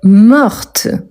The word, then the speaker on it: morte: fin elle est morte je prononce bien le T parce qu'il y a la marque du féminin donc oui ici c'est